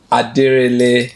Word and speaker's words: Denrele: I'm still here with the ever lively Denrele.